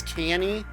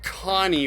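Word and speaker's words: Kanny: name there because I've I myself as all have always read it as canny and I've seen a lot of other people pronounce it that way too but I figured Connie was more consistent with the spelling and likely or what they were actually going for and it's cool to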